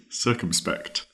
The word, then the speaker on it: circumspect: Circumspect, that is spelled C-I-R, sir, cum, C-U-M, spect, S-P-E-C-T, circumspect.